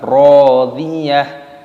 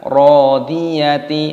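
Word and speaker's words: راضية: Radiyah. Nah, tak marbutohnya di sini dibaca mati, diganti dengan hak, maka dibaca radiyah, bukan radiyati ataupun radiyat. Nah, itu salah.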